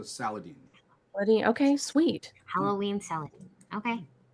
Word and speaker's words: Saladin: He told me it rhymes with Halloween, so Saladin.